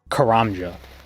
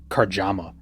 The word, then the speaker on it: Karamja: But, like, Karamja. I've heard Karjama.